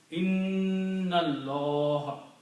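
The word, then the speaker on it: إِنَّ اللَّه: in, and then again, this is a noon with a shadda. This should be pronounced with a stretching sound. Inna Allah. And sound should come as a noon gunna with heavy stretching at least 2 to 3 times.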